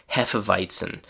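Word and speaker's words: Hefeweizen: We also have hephiton which in English is pronounced pretty much the same way as in German.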